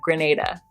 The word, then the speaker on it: Grenada: Shout out to those of you who corrected my pronunciation of the island of Grenada.